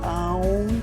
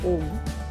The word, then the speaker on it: Aum: It is not a standalone prayer, and that is why Om, whether you pronounce it as Aum, which is the right way to say, or as the more commonly pronounced Om, does not appear as part of these lines.